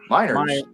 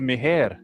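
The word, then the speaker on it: Meijer: When I got here, swear to God, the way it's spelled, I thought it was Mi. that I I I seriously I had never heard like when we moved from Texas to Michigan like me and my wife both thought that was me. It's it's spelled like me and I was like oh that's Quinn.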